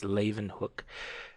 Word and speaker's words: Leeuwenhoek: pronounce his name cuz if you you see his name it doesn't sound anything but it is Leeuwenhoek and for the first